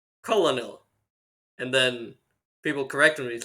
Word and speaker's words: Colonel: going on well the word Colonel entered the English language in the 16th century from French however back then the word much like the average military costume looked very different it was spelled and pronounced Coronel and when English settlers